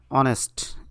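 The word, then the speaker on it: honest: স্বর অ অথবা স্বর আ, অর্থাৎ অ এবং আর মতো উচ্চারণ হলে অ্যান বসে. যেমন a horse and অনেস্ট অ্যান্ড আওয়ার.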